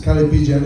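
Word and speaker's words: callipygian: Calipigian is the way you pronounce this, coming from the French.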